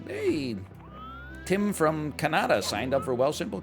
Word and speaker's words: Kanata: man you think i mispronounced canada i didn't mispronounce canada there's a city in ontario called kanata i don't go like well you said wegmans